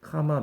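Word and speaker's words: comma: 그래서 A로 끝나면 즉 형용사로 끝나면 몇 부위 카마 몇 부위 쓰는데 여기는 뭐라고 써야 돼? 2부위 콤마하고 그 다음에 5부위 이렇게 얘기하죠. 콤마라고 발음하면 안 되죠. 카마죠, 카마.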